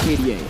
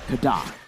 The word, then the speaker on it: KDA: It's Kada. It's Kada. That's how you pronounce KDA. For Haji specifically. For everyone else, it's just KDA. But for him, it's Kada.